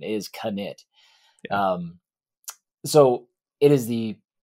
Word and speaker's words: Knytt: the the the knit series and it is knit it's k-n-y-t-t i called it knit underground for